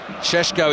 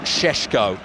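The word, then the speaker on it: Šeško: poor finish from him chesko is is written cesco SE KO but I'm told it's pronounced shesko sort of Al Shan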